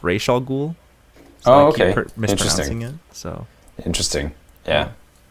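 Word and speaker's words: Ra's al Ghul: keep calling him uh rash al ghul i know that it's razal ghul in the comics but in in um uh i think it's arabic uh it's pronounced ray shaw ghoul oh okay so interesting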